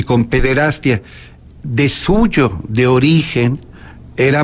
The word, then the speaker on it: pederastia: Por cierto, muchos les gusta pronunciar pederastia con yato, ia, pederastía. El término correcto es pederastia.